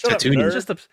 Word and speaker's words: Tatooine: One, you spelled it wrong, and then you said it exactly how it's spelled, which means you also pronounced it wrong. So it's Tatooine.